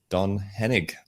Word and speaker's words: Don Henig: So without further ado, please welcome Don Henig.